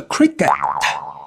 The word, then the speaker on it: cricket: Le cricket c'est un sport. Vous voyez que le T se prononce cricket H dans big, on a le G de la fin.